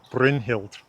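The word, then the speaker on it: Brynhildr: So a name like Brinhilt stressed on the first syllable.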